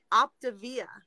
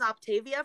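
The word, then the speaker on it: Optavia: and i'm like oh my favorite one is optivia because i literally thought it was octavia for the longest time and it made me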